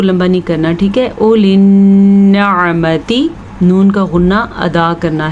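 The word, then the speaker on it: أولي النعمة: اولی النعمتی، نون کا غنہ ادا کرنا ہے، عین کے تلفظ کا دھیان رکھنا ہے. اگر آپ اولی النعمتی پڑھتے ہیں تو غلط پڑھتے ہیں. اولی النعمتی، عین نکالنے کی پریکٹس کریں، بار بار کریں.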